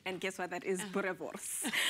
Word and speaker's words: boerewors: And there is a special sausage that they know that is typical South African, but they could never pronounce the word. And guess what? That is boerewors.